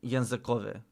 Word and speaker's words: językowe: Yeah, don't pronounce the final vowel fully. It's not like it's still just as equal of a vowel as any other vowel in the word.